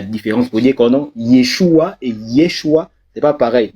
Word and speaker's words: Yeshua: Josué, ça veut dire, quand on le prononce dans la langue originelle du Mashiach, donc de Jésus, c'est Yeshua.